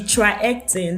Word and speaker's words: TriHealthon: So I wanted to pronounce it officially now. The TriHealthon, that's the name of the organization.